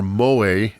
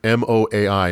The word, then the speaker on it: moai: The statues, or moai, M-O-A-I, moai, were prominent chieftains and warriors and ancestors of the people.